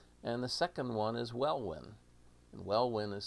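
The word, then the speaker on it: Welwyn: built in england and the second one is well win and well win is spelled w-e-l-w-i-n w-e-l-w-y-n so well when is the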